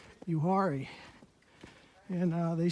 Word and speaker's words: Uwharrie: of the yuari trail yuari is spelled u w h a r i you worry and uh they say